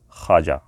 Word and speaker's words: خواجہ: ہوتے ہیں، ایسے ہی یہ واو کا ساؤنڈ نہیں نکلتا، یہ سائلنٹ ہوتا ہے ایک طرح سے، یعنی لکھا جائے گا خواجہ لیکن پڑھا جائے گا خواجہ۔ صحیح تلفظ اس کا خواجہ ہے۔ جیسے انگلش میں نو